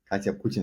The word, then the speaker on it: Katya Putintseva: been a while uh today my guest is Kya pin is that is that the right way to pronounce yeah great that's was what I was going to ask I forgot to ask um well welcome kadya kadya is the co-founder of briefly bio and